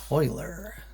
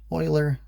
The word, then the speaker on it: Euler: to our friend euler you can kind of tell how much math someone's had by how they say that name if they've taken a fair amount of college math you'll hear them pronounce it as euler if not i usually hear it pronounced as euler these are most useful